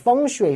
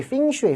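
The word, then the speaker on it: 风水: 표현이 하나 있고 그냥 외국인들이 제일 많이 발음하는 건 팽슈이거든요. 그래서 이제 펑슈이, 핑슈이, 팽슈이 이런 식으로 발음을 하니까 내가 팽슈이 결국 이거 뭐냐?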